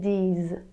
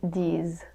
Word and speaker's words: disent: Ils, elles disent. Ils, elles disent. Be careful every time you see the ENT for the plural, it's never pronounced.